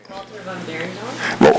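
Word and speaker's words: Walter van Beirendonck: Walter van Beerendonk?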